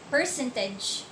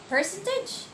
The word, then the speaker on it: percentage: then the teacher said percentage percentage i basically mispronounced the word percentage because when the percent the stress would be in the last part percentage percentage like that and